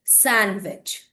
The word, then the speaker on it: sandwich: Don't call it sandwich, you should say sandwich. Okay, so all these some more vocabulary pronunciation, we are just going to prepare videos on the same.